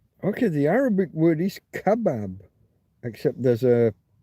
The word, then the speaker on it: kebab: The Arabic word is kebab, except there's a there's an accent over the a probably means you put emphasis there on that. And you usually accents mean stress this syllable. So rather than kbab, it's going to be kebab. kebab. Aramaic kebab and Aadian kebab. Kabu got to put that stress on that middle syllable.